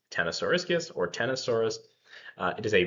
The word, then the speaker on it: Ctenosauriscus: It is pronounced Ctenosauriscus or Ctenosaurus.